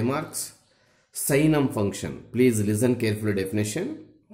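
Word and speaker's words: signum: Sixth one, साइनम function, don't read any buddy सिग्नम function, ji silent there, साइनम function, super topic.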